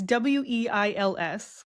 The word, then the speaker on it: Wiles: Weiler? No. It's Weils. Wheels? Oh, Wiles.